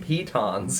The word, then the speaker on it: piton: brought them up for Oshwamp, because you might need some pitons. Yeah, I got 10 pitons. Is that how you pronounce it?